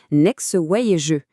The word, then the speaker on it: NeXways: Et cette garantie de qualité, elle a un nom, Next ways. Notez bien, ça se prononce next way et jeu.